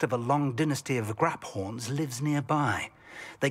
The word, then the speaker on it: graphorn: Apparently that is how you pronounce it, not graphorn, Crater. It's graphorn. So many enemies here.